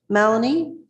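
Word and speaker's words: Mallonee: Welcome, Justice Malanie. Am I am I pronouncing your name uh correctly or incorrectly?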